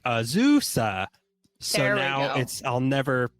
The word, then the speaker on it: Azusa: Someone commented on something that we posted explaining the proper way to say it is like an old bicycle, like Azusa.